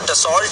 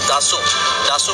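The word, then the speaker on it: Dassault: जो कंपनी बनाती है, लिखते तो डसॉल्ट है उसको, लेकिन वो प्रोनाउंसिएशन उसकी है दासू कंपनी बनाती है, जिस तरह F-16 लॉकहीड मार्टिन बनाती है।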